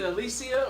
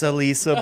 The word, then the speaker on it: Alisa: Is it Alicia or is it Alisa? It's Alisa, bro.